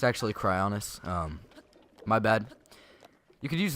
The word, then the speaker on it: Cryonis: So, you can actually use Cryonis. I've noticed I've said it Crynosis. Okay. Bye-bye. Bye-bye. I've noticed I've said it Crynosis like a bunch of times. It's actually Cryonis.